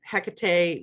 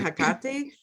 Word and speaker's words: Hecate: And I'll float between Hecate, because I know that's how most people know her nowadays, and Hecate, which is, my understanding, is closer to the Greek pronunciation of her name.